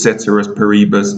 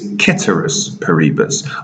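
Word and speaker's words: ceteris paribus: tell you i bet you said it was cetera's parebus no my knowledge of latin suggests that it's ketterous paribus i've talked this for 20 years and i've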